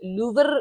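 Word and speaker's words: Louvre: लूवर लिखा जाता है लेकिन लूव आई बिलीव प्रोनाउंस किया जाता है इसको, एक बिल्कुल होंठ बाहर निकाल के, जो कि कोई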